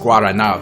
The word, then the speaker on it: Guaraná: It's pronounced Guaraná there, but like Guarana is like big top major soda in Brazil.